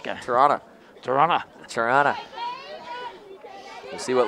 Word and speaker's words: Toronto: have problem with Thole there's no T pronounced in Toronto Toronto Toronto Toronto you see